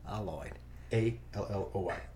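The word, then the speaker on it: Aloy: oh it hey Lloyd like alloy only pronounced wrong okay Lloyd a hey Lloyd yep there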